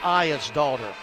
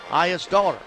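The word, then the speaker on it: Aegisdottir: Elizabeth I is daughter. I phonetically wrote I E is I daughter. Just like your daughter. I is daughter.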